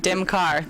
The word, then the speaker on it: DEMCAR: I sort of come up with DEMCAR. That's right, DEMCAR.